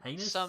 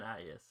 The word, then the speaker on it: Hyannis: Can't pronounce that one. That's fair. That's fair. There are some Heinous? cities. It's Hyannis.